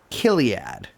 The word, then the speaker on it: Chiliad: with a company called Chiliad. Yeah, sometimes pronounced Kiliad, which gives me a little bit of a shiver. Chiliad.